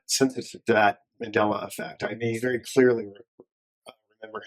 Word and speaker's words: Mandela: Mandela. So there's the Mandela Effect. Right, because it's based on Nelson Mandela. Right, which is a whole controversy. Right. I'm not sensitive to that Mandela Effect.